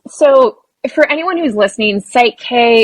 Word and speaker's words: PSYCH-K: So for anyone who's listening, Psyche is spelled PSYCH-K. So like kind of based on psychology, or your psyche is really where it comes from.